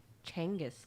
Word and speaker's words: Genghis: like to feel like genghis khan you know i obviously like side note i once saw a youtube video that they said the name is actually changus khan changus yeah that